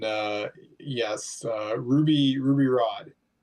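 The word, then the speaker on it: Rhod: Rod. Yeah. R O D. R H O D. Uh, yeah. I'm silent H on that one.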